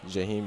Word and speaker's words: Jaheim: Jaheim, am I saying it right? Jaheim, yes. Jaheim, yes.